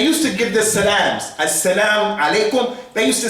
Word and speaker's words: as-salam alaikum: That's how they used to say it. Because they didn't have knowledge, they didn't mix with Arabs, so they didn't say as-salam alaikum.